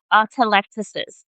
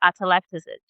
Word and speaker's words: atelectasis: So there's something, one of the biggest post-op problems is atelectasis, okay? I'm just gonna spell it for you if you confused about how I'm pronouncing atelectasis.